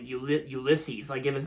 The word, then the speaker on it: Ulysses: movie from 2021 and that is flora and euless ulysses yeah there you go i pronounce it right flora and ulysses god okay